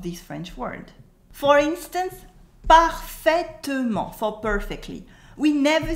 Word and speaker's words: parfaitement: We never say parfaitement. We cut the E in the middle and it becomes parfaitement. Repeat after me. Parfaitement. Parfaitement. The T at the end is silent.